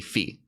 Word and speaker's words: phi: greek letter um phi which which is pronounced fee if you're a mathematician and phi if you're in a fraternity ah hey hey if